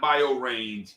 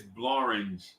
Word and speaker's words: Blorange: It's not Biorange. It's Blorange.